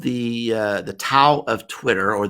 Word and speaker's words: Tao: Well, my very first book was called the Tao of Twitter, or the Chinese pronunciation is actually Tao of Twitter.